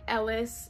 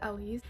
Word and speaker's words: Elise: another is elise but it's not like ellis but it's spelled like the same way but it's pronounced ellie's nathaniel if i had